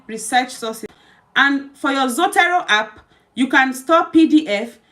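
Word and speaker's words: Zotero: one app we're going to be look is zoto zoto is spelled z o o t e r o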